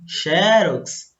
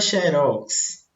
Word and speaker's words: xerox: E aí, xerox ou é xerox? Então, aqui os dois usos estão corretos, tá?